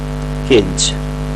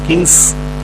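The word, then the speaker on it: Keynes: थे जे एम केंच जे एम केंज हालाकि कुछ लोग इनको किंग्स करके भी प्रोनाउंस करते हैं तो वो आप देख लीजिएगा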